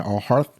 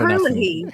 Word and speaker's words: O'Herlihy: Also, we have Dan O'Harth. I'm not sure how to pronounce it. O'Herlihy.